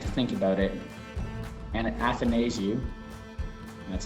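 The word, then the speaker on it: Athanasiou: for me and to think about it and athanasiu that's how you say his name going to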